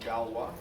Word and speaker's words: Galois: ogi and then I started a company called Galois that's how you pronounce it it's named after the mathematician every